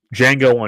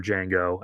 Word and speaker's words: Django: original Django, meets our Django and uh he says, you know, the D is silent and Franco says, I know it's because he's also Django.